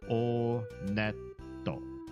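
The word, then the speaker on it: Onett: It is pronounced Onet. I did check the Japanese pronunciation. And in Japanese, when you go to this first town, they pronounce it Oneto.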